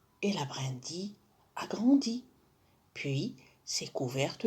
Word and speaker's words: brindille: déjà برندي ما نقولوش برنديل. on prononce ici brindille.